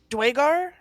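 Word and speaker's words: Duergar: Dwagar? Yeah. Dwagar, yeah. I thought it's been Duragar. Duragar this entire Yeah, fucking yeah. time. Dwagar, Duragar, either or.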